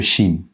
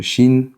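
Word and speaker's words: שין: Mais cette lettre-là a une double prononciation. Je vais faire ici le chin en haut, la même forme en bas. Je vais commencer là. La première lettre, je vais mettre un point en haut à gauche ici. Quand cette lettre là, le chine a un point en haut à gauche, on va l'appeler chin et aura le son aura le son che comme dans Chine justement.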